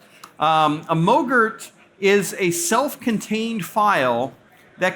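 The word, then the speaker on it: MOGRT: motion graphic temp or Moe Gert for short rhymes with yogurt a mo Gert is a self-contained file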